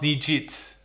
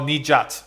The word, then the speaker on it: Nijat: enable uh but uh it's knee just not nijit oh nijat sorry thanks for the pronunciation correction I appreciate it but